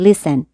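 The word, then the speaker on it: listening: گوش دادن گوش کردن بچهها تیش سنت تیش رو تلفظ نکنید لسن خب ترجمش چی میشه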